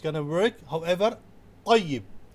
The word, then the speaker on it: طيب: However, tayyib, making T as bold and heavy, makes the correct pronunciation.